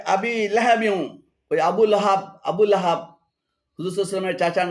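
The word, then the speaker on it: أبي لهب: শুদ্ধ পাঠ হল আর ভুল অশুদ্ধ পাঠ হল তাব্বাতিয়াদা আবিলা হাবিতাবাতিয়াদা আবিলা হাবি এখানে আবিলা এবং হাবি উভয়টি ভুল উচ্চারণ শুদ্ধ উচ্চারণ হবে আবিলাহাবি আবু লাহাব আবু লাহাবের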